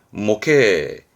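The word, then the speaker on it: 模型: 이런 겁니다 이게 모형이죠 발음은 목회 조심하세요 얘는 음독이 기본이 멉니다 뭐 이렇게 목회 뭐 방입니다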